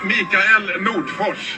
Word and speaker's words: Mikael Nordfors: And my name is pronounced Mikael Nordfors.